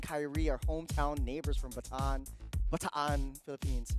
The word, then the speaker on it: Bataan: Edward, Renegade, and Kyrie are hometown neighbors from Bataan, Philippines. How do you pronounce that? Bataan. But I was correct on the second one. Yes. Bataan.